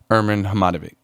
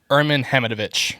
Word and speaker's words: Herman Hamidovich: gained the intention of herman hematobic or am i saying his right name or am i am i saying his name right herman hamidovich that's how it's pronounced okay i'm so i'm